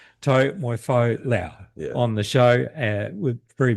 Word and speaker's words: Taumoefolau: It's Taumoefolau. There you go. Much nicely pronounced, that's for sure.